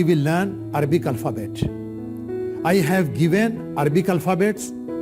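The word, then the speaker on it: ألف: सो the first alphabet is अलीिफ। अलीिफ you pronounce like me अलीिफ।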